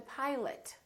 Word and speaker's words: pilot: to talk to the pilot so don't say i'd like to talk to the pilot the o in pilot becomes uh i'd like to talk